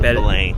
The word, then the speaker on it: Belém: You're supposed to not pronounce the M. So Belém. Belém. So Belém means Bethlehem. So similar to in Spanish as Belén.